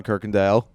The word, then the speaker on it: Kirkendall: friend first of all and cooworker Bam John Kirk Andale is that did I pronounce that right maybe how do you pronounce